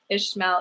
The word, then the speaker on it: Ishmael: much okay ish mao ishmael is how you would say it pronounce it like intense and pronounce it like it has an age ishmael okay i think that's